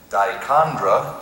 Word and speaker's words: dichondra: Dichondra is the only pronunciation.